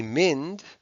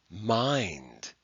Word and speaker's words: mind: of past post and we don't say mend we say mind and it looks like